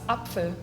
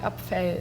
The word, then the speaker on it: Apfel: It's Apfel. You take out the second P and you put an F. But the E is more like Apfel.